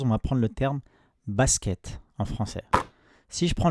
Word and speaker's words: basket: à la lettre S, je ne vais pas dire basket, basiket, ni basouket. Je dis basket. Je prononce seulement le son S.